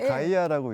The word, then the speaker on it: GEIA: 저희가 그냥 ‘가이아’라고 읽습니다.